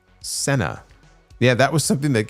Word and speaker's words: cena: The uh Uffman says, "Cena does indeed mean dinner in Spanish, but it's pronounced Senna."